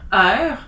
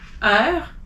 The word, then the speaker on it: heure: You don't pronounce the H if it's in the beginning of a word. So as an example, hiver, heure, histoire, hasard, haricot, honte.